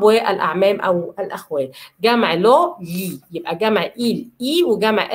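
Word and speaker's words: gli: لالبرو، لالبرو يعني الشجره، وجمع الابوستروفو لي، جي ال اي بتنطق لي، لي ولساني تحت ما طلعش في اللام باللسان فوق، لي، يبقى لي البري، لالبرو لي البري، لالبرو لي البري.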